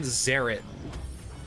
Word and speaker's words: Zeret: Zeret with a Z. It's like Garrett, but spelt with a Z, I think.